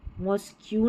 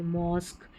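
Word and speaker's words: mosque: यह इ है ना इसलिए लास्ट में रहेगा पैटर्न यहां है यूनिक टेक्निक और मॉस्क मॉस्क क्यू नहीं बोलते मॉस्क क्यू यू ई याद रख लें क्यू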